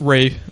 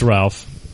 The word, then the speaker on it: Ralph: pronounced his name it's Ralph it's spelled Ralph but he actually does pronounce his name Ray I don't care it's